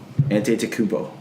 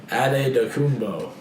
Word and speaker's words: Antetokounmpo: Antetokounmpo. Ooh. Oh no, it's actually pronounced Adetokounmpo.